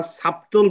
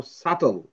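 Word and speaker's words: subtle: পড়া যাবে না এটাকে কারণ বি এর পরে থি আছে এজন্য বি এর উচ্চারণটা হবে না বি এর বা হবে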